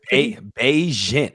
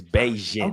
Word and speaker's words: Bagent: No, Bagent, I think. I was saying it wrong last week, but I think it's Bagent.